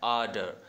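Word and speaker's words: ardor: आर्डर। Last वाला आर बोलना नहीं है, बस ऐसे फील होना चाहिए कि हम आर प्रोनाउंस कर रहे हैं, आर्डर, ठीक है, आर्डर।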